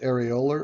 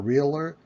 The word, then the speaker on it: areolar: And the first kind of loose connective tissue is areolar or areolar. I've heard it pronounced both ways over the years.